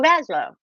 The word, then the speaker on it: Laszlo: Is it Laszlo? Or is it? Oh, Laszlo. I say Laszlo.